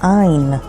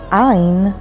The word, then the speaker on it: ע: the next letter is the letter ein ein sounds like ah kind of like an accentuated ah ein is also a word and it means i and spelled with ein yud nun sofit ein